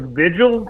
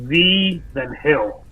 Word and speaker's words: Vigil: Like it looks like it's like Vigil, but it's pronounced V then Hill.